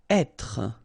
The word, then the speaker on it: être: Être. Okay, so remember that when you get this accent circonflexe here, you should really pronounce it openly. So, être. Okay, don't insist on the final être.